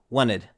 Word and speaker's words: wanted: So instead of saying wanted in American English, we usually do not pronounce a t if it comes after an n. So it becomes a very very quick n wanted.